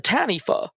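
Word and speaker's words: taniwha: their cultural Tales the tanifa spelled t-a-n-i-w-h-a apparently w-h-a spell is pronounced with an F unlike a lot of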